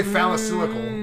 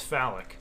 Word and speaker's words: phallic: you don't say phallicylical. That's stupid. Yeah, no, that's way too many syllables. So Yeah. if you see someone doing something that's incorrect, it's phallic.